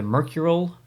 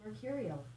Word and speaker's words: Mercurial: The Mercural Moose. Mercurial. Mercurial. Pronounced that one wrong.